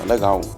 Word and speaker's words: legal: Aqui no Brasil, a gente acaba pronunciando esse L com o som de U, né? A gente fala legal.